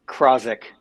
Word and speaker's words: Krawczyk: You gotta give me that pronunciation of that last name, man. It's Krawczyk. Krawczyk.